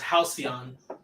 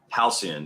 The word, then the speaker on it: Halcyon: It's pronounced Halcyon. Halcyon, yeah.